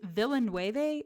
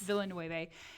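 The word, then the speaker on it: Villeneuve: um the i think is villanueve is that how you pronounce the director's name um yes villanueve and he talked about how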